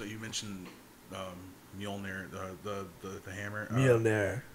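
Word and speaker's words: Mjölnir: Mjolnir. You gotta say it like Chris Hemsworth. Mjolnir.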